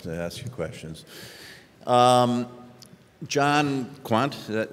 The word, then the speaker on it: Kwant: John Kwant, is that how you say it?